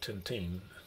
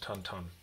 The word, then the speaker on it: Tintin: belgium and i think back in belgium they call him tantan it's not tinting it's pronounced tan ton because i have a